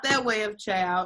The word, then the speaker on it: ciao: not that way of ciao it's like this let me type it again because remember we're all learning new things ciao but it's you say it like child like ch o W let's all say ciao